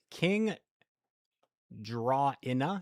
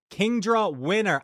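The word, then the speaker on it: KingdraWinner: King Draw Inna. Am I saying that right? I've seen your name before, but I forget how to say it. King. I'll just say King Draw. Oh, like Kingdra. Wait, Kingdra winner. I see.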